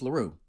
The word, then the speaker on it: Larrue: Before this video starts, just letting you know that I made this video in collaboration with Larrue, rhymes with Bugaboo, the man, the myth, the Digital Tensei.